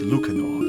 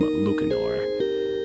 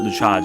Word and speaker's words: Lucanor: Hey everyone, this is Dusk AestheticGamer, and this is the Lucanor, which also might be pronounced as Lucanor, but I'm going to probably call him Lucanor. It's not Luchage or whatever else, but anyways, to talk